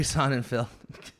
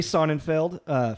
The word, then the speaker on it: Sonnenfeld: Yeah, Barry Sonnenfeld. Field. Did I spell that wrong? Is it Feld or Field? Feld, F-E-L-D. Okay, it is Feld.